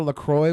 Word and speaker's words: La Croix: You ever drink a LaCroix water? Unfortunately. Hey, you know they're not pronounced LaCroix in French, right?